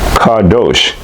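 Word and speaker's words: qadosh: The word one in this scripture is reference number 6918 in a Strong's Hebrew and Greek dictionary and it's pronounced Cardos spelled Q A D O S H and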